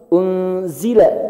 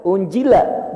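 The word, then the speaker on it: أُنزِلَ: Jadi unzila itu harus unzila, zila, jangan unjila, bukan unjila. Unzila. Ini maknanya berubah, Pak, rusak. Kalau kita baca unjila.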